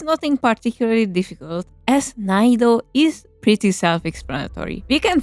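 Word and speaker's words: 難易度: You have to make the last n of none sound more subtle almost as if there were no n like naido. The reason is that if we would pronounce it hard like nanido, it could be mistaken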